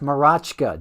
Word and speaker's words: Mroczka: That would be pronounced Marachka, Jason Marachka. I think we might need to get a pronunciation guide for Play Sports, right?